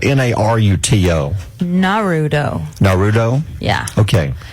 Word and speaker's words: Naruto: It's spelled Naruto. Naruto.